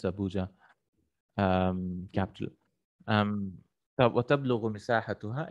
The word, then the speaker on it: Abuja: Is it the correct pronunciation? Abuja.